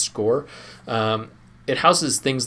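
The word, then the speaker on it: SCOIR: resources we have is is a tool called score SC c i r so it's pronounced score um it houses things like we have personality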